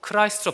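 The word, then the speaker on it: Christ: 크리스토스는 영어로 크라이스트로 발음되고 우리는 그것을 뭐라고 하나요?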